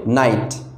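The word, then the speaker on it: knight: এই কে দিয়ে যদিও শুরু হয়েছে, তারপরে এর প্রোনাউন্সিয়েশন হবে নাইট।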